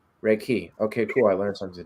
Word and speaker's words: Reiki: so it's reik key so the emphasis goes on the second syllable I know most people think it's but it's actually Reiki Reiki okay cool I learned